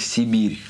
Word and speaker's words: Cyberia: название следующей игры а пишется как тиберия а произносится как сибирь трудно сказать какую категорий